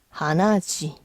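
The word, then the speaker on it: 鼻血: 발음은 스 혈 스 근데 일본식 발음은 치에요미 힘드니까 하나지 그리고 참고로이지는 왜 우리가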